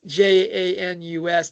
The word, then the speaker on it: Janice: It's spelled obviously Janice with an ICE, but it's Janus, the two-faced.